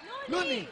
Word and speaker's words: Loonie: Looney. Rhymes with Luigi.